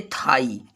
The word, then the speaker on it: thigh: ये थाई, थाई means जांघ होता है। यहाँ पे GH साइलेंट हो गया है, घ होता होना चाहिए लेकिन नहीं हुआ।